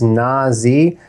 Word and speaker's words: Nazi: you pronounced it well it is Nazi not the other pronunciation of the same word the name actually means